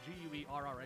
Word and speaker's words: Guerra: It's properly pronounced Guerra, but you're a gringo, so we're not going to go.